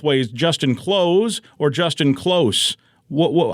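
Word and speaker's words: Kloos: Justin Close or Justin Close. Wh how is it really supposed to be? He pronounces it Justin Close, but of course, this being hockey, his nickname is the closer.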